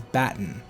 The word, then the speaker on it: Baten: the title screen, but pretty much everybody is in agreement that Batin is Batin. It follows the grammar and pronunciation rules of multiple languages, and Batin is essentially just the Arabic word for belly or abdomen. You would normally Romanize it with the letter I in place of the E, but other than that, they are exactly the same.